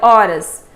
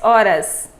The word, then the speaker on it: horas: vamos ver os sons nós já sabemos na língua portuguesa o h não tem som representativo então eu já não vou olha horas eu tenho o ó o r o a e o s horas tá vendo então aí